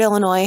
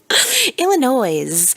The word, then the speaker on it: Illinois: she said Illinois, because the word Illinois has an S on the end, and people tend to pronounce that S, and that drives me crazy. Illinois.